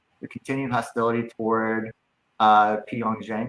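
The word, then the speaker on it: Pyongyang: continued hostility toward uh Pong Jang. Is that how you say it? Pong Jen, right? Yeah. Pong Xen.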